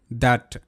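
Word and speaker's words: that: রয়েছে টি এইচ এটি দ্যাট ্যাটটি এইচ এর পর এখানে এ রয়েছে তবুও টিএইচ দ হিসেবে উচ্চারিত।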